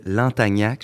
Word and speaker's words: Lantagnac: de Lantagnac, je le prononce comme il faut? Oui, tout à fait. C'est assez charmant. Ça rime avec tabernacle. Effectivement.